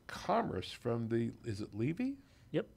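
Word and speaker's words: Leavey: of Science in Commerce from the is it Levy yep Levy like people mispronounce my last name yeah Levy Levy School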